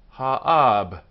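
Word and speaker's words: הָאָב: Ha'ab, ha'ab. The father. Ha'ab. Ha'im, ha'im. The mother. Ha'im. Notice before Aleph, we use the long vowel here.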